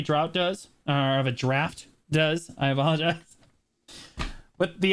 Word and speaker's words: Draught: Okay, I will say for the purposes of the guide, I'm pretty sure it's supposed to be pronounced draft. But everybody in the BDO community started calling it a drought, and we're so committed at this point that there's no turning back.